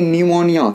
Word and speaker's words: न्यूमोनिया: inter exam personal देखिए P N-you M ओ एन आइए इसको करेंगे न्यूमोनिया क्योंकि इससे पहले पीछे वजह से कुंठा पर एक लिखित